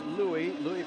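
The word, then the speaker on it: Luis: It's spelled Lewis. He prefers Louis Perez.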